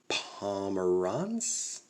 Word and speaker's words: Pomeranz: got andrew suarez miguel cabrera julio theron drew pomeranz is how you pronounce it and we got the high ten looks like matt chapman and i don't know who that is number 28.